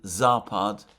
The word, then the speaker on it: Zapad: The stress is on the first syllable.